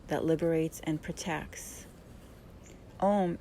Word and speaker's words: Om: that liberates and protects om is actually spelled a-u-m and is chanted with three syllables um om is